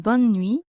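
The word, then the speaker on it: bonne nuit: The second pronunciation difficulty is that some letters are not pronounced in buni.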